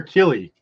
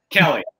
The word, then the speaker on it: Kelley: And do you say Kelly or Keely? Kelly.